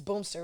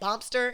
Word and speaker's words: Boomster: It's Boomster, right? Am I saying Boomster? Mm-hmm. Okay, I'm saying it right. Cause I be saying Bompster, and then people be saying like, you saying it wrong, and I'm like, I